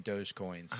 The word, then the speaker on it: dogecoin: to purchase swag in dogecoins how do you spell that d-o-g-e like dodge with no d d-o-g so